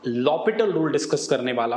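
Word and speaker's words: L'Hôpital: है ओके अ लिमिट्स लपट रूल अच्छा ये हॉस्पिटल नहीं होता ठीक है इसमें हम एच और पी को साइलेंट रखते हैं तो लपट रूल कहते हैं हम लोग इसको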